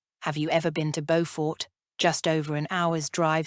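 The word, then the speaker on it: Beaufort: a bow tie like bow for North Carolina our South Carolina bow for is like the bow in beautiful the bow part rhyming with you I laughed at his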